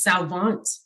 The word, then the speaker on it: Salvant: show today i want to make sure i'm pronouncing your last name correctly it's it's salvant yes that's perfect l salvant so you